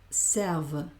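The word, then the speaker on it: servent: Nu servon vous serve, il serve. Voy a pronunciar esta V.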